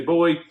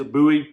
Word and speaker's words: Bowie: knife some people say buoy some people say buy technically the real pronunciation is buoy wooden handle 1075 high carbon steel you know